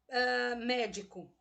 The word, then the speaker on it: médico: Veja que eu estou intensificando a sílaba co. Eu não falo assim. Então, qual é a sílaba tônica, qual é a sílaba mais forte da palavra médico? É o me.